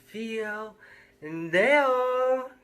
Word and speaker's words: Theo Dayo: welcome to narrations with theo and they all yes that's how it's pronounced today i'm gonna read a short story